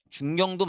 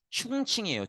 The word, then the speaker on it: 충칭: 중경의 정착을 하게 돼요 요거 중경도 맞고 이게 중국어로 발음하면 충칭이에요 충칭 충칭도 같이 적어주세요